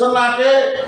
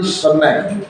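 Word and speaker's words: snake: Walaupun ditulis senake, kita mengucapkan pasti snack.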